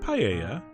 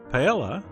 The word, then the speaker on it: paella: Ramsay might call it paella although actually he would say it more like paella but anyway the point is some people pronounce the L L and speaking of l